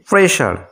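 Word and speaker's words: pressure: একই রকম করে প্রেশার, এই শব্দটির শেষে দেখো SURE রয়েছে এবং তার আগে এস লেটারটি রয়েছে, প্রেশার। তাই এখানে এসের উচ্চারণ আমরা সর্বমত পাচ্ছি, তালব্যসার মতো।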